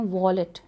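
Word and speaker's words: wallet: लफ्ज़ में आता है जिसको लोग वायलेट मैंने सुना है कहते हैं वॉलेट दिस इस वॉलेट पर्स जिसके अंदर आप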